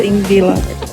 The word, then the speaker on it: Þingvellir: Christian, how do you say the name of this of this thing? Sing villa? Thing billy or something like that, right? Thing villa.